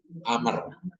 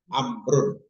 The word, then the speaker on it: Amr: Umar Masud dan Ibnu Amr bila ada wau dibacanya Amr amrun kalau tak ada wau dibaca Umar Amr Umar lain lain orang jadi wau tu tak perlu dibacalah dibacanya amrun Amr gitui kadang di ada